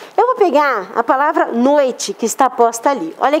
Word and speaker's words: noite: em que uns dois casos eu faço a pronúncia dos dois elementos vocálicos noite se a palavra tivesse sido falada é pronunciado errado eu diria nuit Você sabe o que é noite vou dar